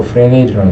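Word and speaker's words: Fresnel: 그래서 이제 유명한 사람인지 프렌넬, 이게 S로 빠지고 프레넬이라는 사람, 이 사람이 있었고, 그 다음에 토마스 영, 이 사람들이 이제 이 하이헌즈, 호이겐스 이론을 많이 뒷받침하면서 실험과 이론을 제공했죠.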